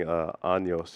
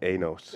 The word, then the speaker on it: años: We first started pronouncing años. It was anos, which has a totally different meaning apparently.